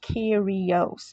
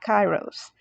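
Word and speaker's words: Kairos: those of you that are wondering the correct pronunciation is Kos okay it is not chyros and if you're still confused about that I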